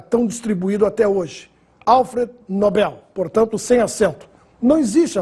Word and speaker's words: Nobel: se confundindo com pronome de tratamento em inglês nóbel ou Nobel quando se ganha o prêmio é Nobel Esse é o nome do Sueco que nos deu o prêmio da tão distribuído até hoje Alfred Nobel portanto sem acento não existe a forma nóbel